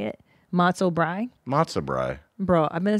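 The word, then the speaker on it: brei: but it's spelled brie, like the cheese, no? B-R-I-E. No, it's not brie. You're at a Jewish deli. It's not a French cafe.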